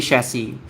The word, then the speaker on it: chassis: It it sounds like a French word.